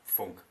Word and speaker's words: Funck: But as I'm from Germany, it's pronounced not Funk, but Funk.